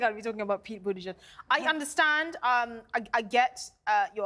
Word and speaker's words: Buttigieg: So that Peter Butterberg was the... He's currently running, or is one of the front runners, is the... Democrat presidential candidate. Right. Him and his partner... Oh, Peter Buttigieg.